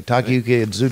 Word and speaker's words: Takayuki Iizuka: Takayuki Iizuka. Okay, Takayuki Iizuka.